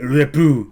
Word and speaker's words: repos: Is it what when he went repou? Si parti. Repou. Is that how do you say it? Repou? Yes. I need one more yes.